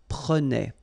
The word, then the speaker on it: prenait: pronounce the like a prenait. All right? So same thing here, final S not pronounced. Je prenais, tu prenais, il prenait, final T not pronounced, so the same form, okay?